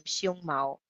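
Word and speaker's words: 熊猫: is a hairy chest, because panda in Chinese is pronunciation is same, xiong mao, xiong mao, and but hairy chest is like xiong mao, very little difference.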